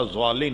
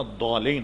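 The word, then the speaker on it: الضالين: حضرت یہ بتایا کہ اس کا تلفظ زال سے ملتا ہوا نہیں، ولا ضالین نہیں ہے، ولا الضالین ہے، ولا الضالین، یہ جو دو ڈاڑے ہیں اس پر زبان کی ایک طرف کو لگا کر نکالا جائے، ولا الضالین۔ جب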